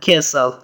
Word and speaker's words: castle: That is an old castle. That is an old castle. Castle معنا کلا یا ماڼۍ ته هم استعمالیږي. یادونې وړ ده چې په castle کې ټي نه تلفظ کیږي. ټي سایلنټ ده.